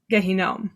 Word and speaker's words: Gehinnom: And that's sort of reminiscent of, and please correct my pronunciation here, Gehinnom. Yeah, no, that was perfect.